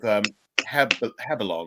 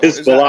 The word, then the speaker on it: Hezbollah: Israel is about to get in war with Hebelon, right? Sorry. Is that Hezbollah. how I pronounce it?